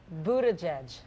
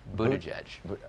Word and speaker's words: Buttigieg: Buttigieg. Okay. Like boot, edge, Buttigieg.